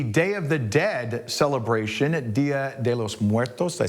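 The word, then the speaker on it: Día de los Muertos: It, of course, Halloween weekend, but it is also the Day of the Dead celebration, Dia De Los Muertos.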